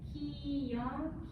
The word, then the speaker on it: KyoungAh: I know it's sometimes hard to pronounce. It's KyoungAh.